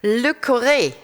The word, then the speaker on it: Le Corre: Here is Le Corre. Is that pronounced correctly? Almost. It's Le Corre. Almost. Le Corre. So what is the right pronunciation? Le Corre.